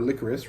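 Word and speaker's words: Lycoris: gonna be looking at licorice recoil or licorice recoil uh as that's how they pronounce it in the in the show so yeah this is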